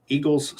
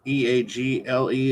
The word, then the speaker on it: Egil: I got to page 100 today, and it started with Egil's Saga, which is not Eagle, it's Egil. So I don't know if I'm pronouncing it correctly.